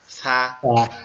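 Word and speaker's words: ث: আমাদের এই জিহ্বার আগা, এই জিহ্বার আগাটা সামনের দুই দাঁতের, সামনের দুই দাঁতের আগার সঙ্গে লাগবে, লেগে উচ্চারিত হবে সা সা আহ, সা আহ, সা, আহ, এভাবে।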